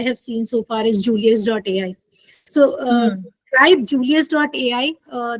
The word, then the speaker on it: Julius.ai: Julius J U L I U S Julius.ai. Somebody asked me to spell it. So uh yeah, so it's Julius like Julius Caesar.